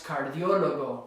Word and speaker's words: cardiólogo: Same with cardiologist, ends in a vowel, so it should be here, but it's actually here. So it's cardiólogo with a written accent.